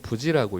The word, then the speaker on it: 부시: 요시야의 에스겔의 아버지의 이름은 부시인데요. 실제로는 부지라고 읽습니다.